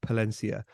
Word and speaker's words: Palencia: came into his bar in Palencia not a mispronunciation I don't mean Valencia uh Palencia is a little uh town in Northern Spain customers who came into